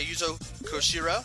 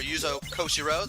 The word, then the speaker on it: Yuzo Koshiro: All of this is composed by Yuzo Koshiro, or Yuzo Koshiro, depending on how you want to pronounce it.